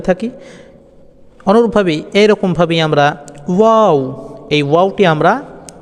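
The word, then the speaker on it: و: ঠোঁটের দুটি গোলাকার করুন ঠোঁটের দুটি গোলাকার করুন ওয়াও ওয়াও এই যে চিত্রটা আপনারা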